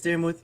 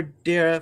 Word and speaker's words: Dara: chat my name is Darth or Dara for short because some people stay still say dar and I'm like it's a silent e at the end there's there's an e right there don't anyway I'd like